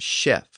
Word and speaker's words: chef: of a kitchen and notice that even though words like shapo and Chef retain the same ch spelling they came into English with their later sh pronunciation shapo and Chef so from cap and